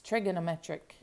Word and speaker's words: trigonometric: I'm moving stuff around, my husband told me I said trigonometric wrong, and I think it's because I'm Southern, and I kind of left out syllables. He said, it's trigonometric. And I said, oh, like an Italian restaurant.